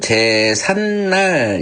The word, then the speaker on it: 제삿날: 비음하면 제삿날 이렇게 니은으로 발음이 되는 거죠.